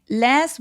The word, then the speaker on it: last: 근데 미국식으로 좀 더 정확하게 발음해 보자면 쟤는 last weekend 그래서 Apple 할 때 Apple 사과할 때 그 애의 소리가 여기서도 길게 나기 때문에 last weekend라고 길게 소리 내 주시면 조금 더 정확한 소리가 됩니다.